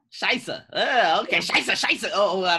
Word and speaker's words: Scheiße: I should start saying Scheiße. Just saying it in German, because in German it's really not a bad word. How do you say it in German? Scheiße. Scheiße.